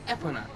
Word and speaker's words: Epona: So he says the only good name for a horse is Epona, twice. So Epona. This is pronounce Epona.